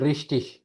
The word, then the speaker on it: richtig: बिल्कुल, रिश्टिश, राइट, रिश्टिश।